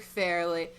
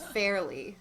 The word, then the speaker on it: Fairlie: In my audiobook, they pronounced it Farley the whole time, so I didn't even realize it was spelled like that.